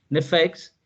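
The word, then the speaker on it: נפש: El término nefes, aquí cometí un error, nefes lleva tilde en la primera E, nefex, y el término roach significa lo siguiente, traducido del hebreo al español nuestro.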